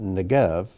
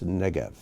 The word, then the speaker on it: Negev: say i this is one of those words with accents on the first syllable instead of the second it's not negev it's negev line three and